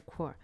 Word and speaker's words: choir: They say like choir, right? Not a chore, it's a choir.